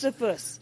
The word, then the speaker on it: Josephus: Josephus. Okay, Stop pronouncing the J like an American.